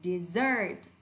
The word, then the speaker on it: dessert: Còn nếu vẫn viết là desert nhưng đọc lại là dessert. Dessert, trọng âm thứ hai ạ.